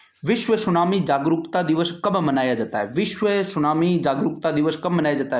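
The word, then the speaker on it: tsunami: देखिए, सुनामी को इंग्लिश में टी से शुरू करते हैं, क्योंकि इसमें टी साइलेंट रहता है। क्या रहता है भैया? साइलेंट रहता है। तो इसका सही नाम तो वैसे अपन पढ़े तो टी सुनामी होता है, लेकिन टी साइलेंट रहता है और इसका नाम सुनामी है।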